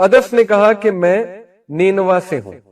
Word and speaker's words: نینوا: تو عدس نے کہا کہ میں نینوا سے ہوں. نینوا اس کا تلفظ ہے NINEVEH.